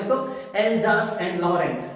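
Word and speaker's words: Alsace: ठीक है, और कौन से शहर की कहानी है, एल्जास, एल्जास। ठीक है, ज वाला वाइब्रेशन वाला जे बेटा।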